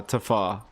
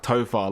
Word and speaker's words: Topher: he did mention that his name is pronounced Topher, like Topher, like his name's Christopher kind of thing, and he's like, yeah.